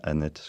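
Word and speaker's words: Anet: Alors, Olivier Marleix, vous êtes député, vous avez été maire d'une petite ville, Annette, ça se prononce bien Annette, je vous l'ai demandé tout à l'heure, la ville de Diane de Poitiers.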